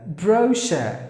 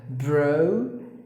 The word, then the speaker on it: brochure: Bro, that's the first part. And the second part is sh. The C-H-U-R-E, put it together, it's like sh. Brochure. That's how you have to pronounce the word. Brochure.